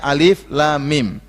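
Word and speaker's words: الم: yang dibaca per huruf jangan baca alam Tapi bacanya Alif Lam Mim Apa maksudnya huruf-huruf hijaiyah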